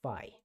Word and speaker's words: phi: unfamiliar this is the greek letter phi it's pronounced phi and it's spelled p h i so we